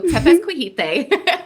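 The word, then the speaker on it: Tepezcohuite: Yeah, so Tepezcuijite is how you pronounce it.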